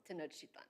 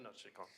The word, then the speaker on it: Tenochtitlan: Help me with pronunciation. Tenochtitlan. Tenochtitlan. There you go, Tenochtitlan.